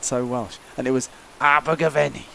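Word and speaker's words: Abergavenny: welsh and it was abu ghaveni which is how everyone there pronounces it with that exact voice even all the women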